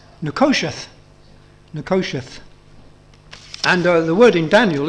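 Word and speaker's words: נחשת: used which is spelled n-e-h-o-s-h-e-t it looks like niho chat but it's pronounced nicosiath nakoshith and the word in Daniel is slightly different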